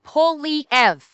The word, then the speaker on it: Poilievre: I admit it, my pronunciation may be sounding fucked up because of the VC, but it's Polyev.